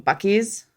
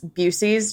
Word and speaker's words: Buc-ee's: One of those being Buc-ee's, which people pronounce Busey's just to be annoying.